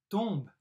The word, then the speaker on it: tombent: troisième personne du pluriel tomber ent on ne prononce pas c'est dans tomb elle tombe phrase 4 réponses elle vit